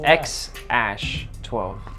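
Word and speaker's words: X Æ A-12: yeah i don't even know like i like elon musk it's x ash 12. that's how you say it i know it's spelled weird but it's ash only white people know how to say it are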